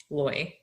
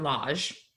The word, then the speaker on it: Loj: So the drink is it's spelled Loj. According to Google, it's pronounced Loy, not Lodge, as we...